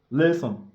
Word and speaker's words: listen: sex ici c'est Liss Lisson listen le T ne se prononce pas on dit Liss c'est